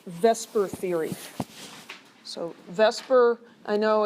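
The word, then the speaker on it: VSEPR: of an extension of Lewis Theory it's called Vesper Theory so Vesper I know it should be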